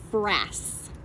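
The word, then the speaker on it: frass: black spots right here that's called brass brass rhymes with grass and is the name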